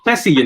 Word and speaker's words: Chessy: How'd you say it? It's Chessy, but you know what? We dropped the ball on that because it's so easy for people to spell it as cheesy.